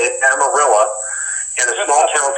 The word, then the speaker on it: Amarillo: of Amarillo, I know how to say it, Amarillo, in a small town called Dumas, D-U-M-A-S, Dumas, not dumbass.